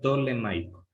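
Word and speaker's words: ptolemaico: Ustedes pronúncienla simplemente como si no existiera la P. Directamente digan tolemaico, el sistema tolemaico.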